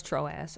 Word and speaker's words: Troas: ass turkey oh I was right it was troas okay now when I went to troas to